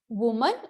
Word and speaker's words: women: तो ठीक वैसे ही वुमन और विमेन। ठीक है बच्चों, यही इसकी करेक्ट स्पेलिंग है, सी।